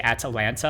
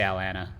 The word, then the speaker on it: Atlanta: know add to landsat do you say Atalanta and you pronounce every single t because actually in my normal speaking tone I just say Alanna I don't say any of the t's oh yeah I'm from